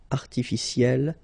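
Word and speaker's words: artificielle: Artificiel will become artificiel. You pronounce it the same way, but then you double the L and then you put at the end.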